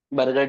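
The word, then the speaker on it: Buerger: कुछ सुनाना लग रहा है ये कहीं पे बर्गर disease sir बजर disease हम एक ये नाम सुना है बी यू आर जी ई आर बर्गर disease बर्जर disease जो आप प्रोनाउंस करना चाहो एक ये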